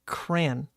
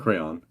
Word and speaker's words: crayon: I think my whole life I have said crayon, like one syllable. Oh. Crayon. You know, like C-K-R-A-Y-N. No, you just pronounced it correctly. Crayon. Yeah, crayon. But you say crayon, like two syllables.